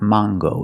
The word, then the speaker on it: mango: word is mango mango use the long a it's not mango and it's not mango in English it is mango with this word we pronounce the hard G sound so it's mango mango would you like